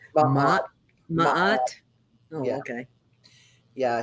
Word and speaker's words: Ma'at: Okay, so that is Mott. I was going to ask you how you say her name. Ma'at.